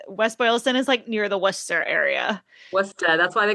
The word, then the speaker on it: Worcester: And then I was like, nah, it's Worcester.